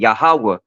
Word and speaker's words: Yahweh: That's how you say it, Yahweh.